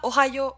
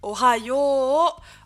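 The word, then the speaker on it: おはよう: Ohayo, on dit pas Ohayo, on dit Ohayo, Ohayo. Où on va allonger le yo avec un U.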